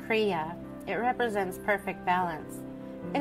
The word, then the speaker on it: Kriya: based base the crea symbol the symbol is pronounced crea it represents perfect balance it is also called